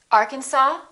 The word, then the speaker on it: Arkansas: board say cupboard my kitchen cupboard silent s arkansas illinois island debris all right one more silent